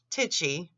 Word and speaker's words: Tai chi: TI e CH I it's pronounced tichy with a long eye and he spelled that